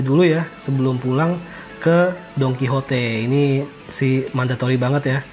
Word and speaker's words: Don Quijote: Kalau misalkan Singapura tuh seperti Mustafa lah, awas kepleset ya, banyak orang bilang Don Quixote lah, Don Quijote, Donki yang benar cara bacanya Don Quijote ya kan, nama pahlawannya Spanyol.